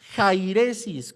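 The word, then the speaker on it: αἵρεσις: La palabra herejía procede del griego jairesis, con J y acento en la A.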